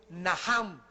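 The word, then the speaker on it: נחם: el Antiguo Testamento es najam en el hebreo que se escribe nacham la ch en el hebreo se pronuncia como jota y significa cambiar la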